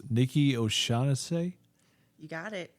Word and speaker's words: Nikki O'Shaughnessy: and me introducing the name, not forgetting and trying to pronounce it right, I'm going to say it's Nikki O'Shaughnessy. You got it. O'Shaughnessy.